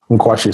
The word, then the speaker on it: Nkwashi: I know it's Eagle in English, but how do you pronounce it? Nkwashi. So it's Nkwashi. Okay. How do we learn more about Mkwashe?